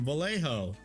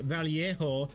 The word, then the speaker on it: Vallejo: I was using Vallejo. And someone dared to come into my stream and said, excuse me, it's pronounced Vallejo because they're in Spain.